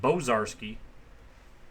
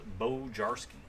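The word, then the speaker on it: Bojarski: long time Bishop Jones cuz you pronounce mine Bazar ski so it's bow jar ski Dominguez family globe what's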